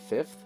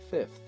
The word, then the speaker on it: fifth: It's a word that no one pronounces correctly. Fifth. Fifth. Yeah, that's how you say it. 55th. 55th. Yeah. Like I almost feel like like I'm wanting to have like an L in that pronunciation when I say it, but I know there's no L in fifth.